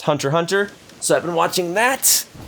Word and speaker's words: Hunter x Hunter: lately i've been watching hunter x hunter or i've been informed that that's just pronounced hunter hunter so i've been watching